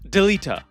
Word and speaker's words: Delita: made it very clear how to pronounce these names. It is Delita.